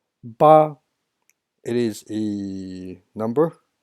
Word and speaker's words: 八: And the second one is 八. 八. It is a number 8. Sounds like Baba Black Sheep. 八, same thing. First tone 八.